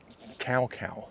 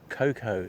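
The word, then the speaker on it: Kaukau: Mount Coco you'll hear referred to quite frequently in Wellington and New Zealand as Mount Cowcow. Uh but Cocoa is the correct moldy pronunciation.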